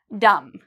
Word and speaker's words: dumb: Dumb. Okay, do you hear a B sound in there? Dumb.